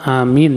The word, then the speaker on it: آمين: Pengucapan amin yang benar adalah amin. A-nya 2 harokat. Minnya itu bisa sampai 6 harokat. Karena A itu mad asli. Kalau min itu mad arid li sukun.